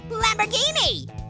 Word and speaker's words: Lamborghini: Oh boy, I think I'm gonna have to go with Lamborghini. Mostly because it rhymes with linguine.